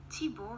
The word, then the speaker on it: Thibaut: They named him Thibaut because, said the king, Thibaut rhymes with beau.